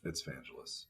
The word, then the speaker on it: Vangelis: It's Vangelis. It wasn't worth. Well, I said I don't know how to pronounce it, so I was opening it up to the audience to correct me.